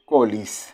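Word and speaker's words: college: দিলাম, হি গো bracket ক্লোজ dash two কলিজ। আমরা কলেজ বলি, আসলে কলিজ বলা উচিত, আমাদের উচ্চারণ এখানে কলিজ হওয়া উচিত।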